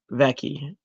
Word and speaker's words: Vici: She pronounced it Becky. Okay. Vici pronounced Becky.